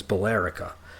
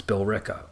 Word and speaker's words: Billerica: But like, just to give an example, there's a town called Billerica, and the way that it's spelled is Billerica. And so a lot of people see it and think it's Billerica. It's not, it's Billerica.